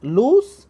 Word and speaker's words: loose: In place of this, we have to pronunciate O twice and we must say L-O-O-S-E. And the right pronunciation that is given here between two slantic lines, that is the phonetic transcription, loose, and L-O-S-E is pronunciated as lose.